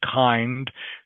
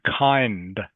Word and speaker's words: kind: And just everyone remember the D in kind. This is the final consonant of that word kind. So remember, you must pronounce the D sound. So I'm kind kind of on the fence about that. Kind of on the fence. Okay? Don't need to over pronounce it, but it must be there.